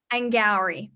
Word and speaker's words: Angourie: i say it properly and gallery rhymes with flowery and gary that is